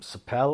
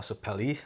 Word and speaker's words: sapele: spruce i've used um sapel or sapele however you want to pronounce that and i've used